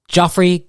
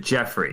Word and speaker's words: Geoffrey: audience I'd like to introduce you all to Joffrey golden did I pronounce that right uh I pronounce it Jeffrey Jeffrey like uh yeah like Jeffrey giraffe from